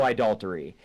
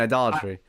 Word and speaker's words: idolatry: say there was no idoltery and if you want to really watch a really great Deep dive I mean idolatry you mean idolatry yeah yeah idolatry um